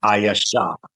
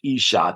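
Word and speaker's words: אישה: Some people pronounce it Ayasha. In modern Hebrew, it's Isha, that's wife.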